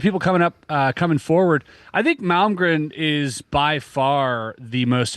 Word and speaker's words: Malmgren: It's Malmgren. Malmgren.